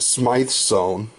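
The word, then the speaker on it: Smyth sewn: Smith Smith or Smyth so it's actually pronounced I found out I just bit my tongue it is pronounced smite zone and this is my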